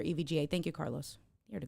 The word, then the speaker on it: EVGA: that right evga okay each letter so it's pronounced as each letter evga thank you carlos you're